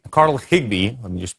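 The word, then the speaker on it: Carl Higbie: And you know, Carl Hibby Higg, Carl Higgby, let me just pronounce this correctly, was not uh the only,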